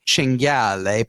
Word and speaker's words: cinghiale: from San Francisco so that he could make cinghiale pasta. Cinghiale, wild boar. That was a great pronunciation.